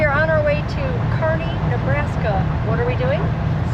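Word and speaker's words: Kearney: I I was pronouncing it Kernney. You said it's Carney. Carney.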